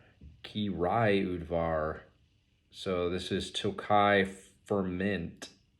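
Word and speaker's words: Királyudvar: on the back on how to pronounce it ki rayud var ki rai udvar so this is tokai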